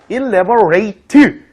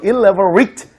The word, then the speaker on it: elaborate: elaborate 이렇게 발음될 때가 있고 elaborate 이렇게 발음될 때 있어요. rate 이렇게 발음되면 동사형을 얘기해주고요. 그 다음에 elaborate 이런 식으로 얘기해주면 이제 형용사형을 얘기해주거든요. 발음에 따라서.